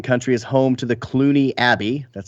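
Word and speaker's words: Cluny: remains what European country is home to the Clooney Abbey that's spelled c-l-u-n-y a former Benedictine Monastery established in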